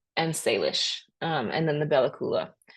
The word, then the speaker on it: Salish: But here in parentheses is the way to pronounce these names. So Tlingit, Tsimshian, Haida, Kwakiutl, Kwakiutl, and Salish, and then the Bella Coola.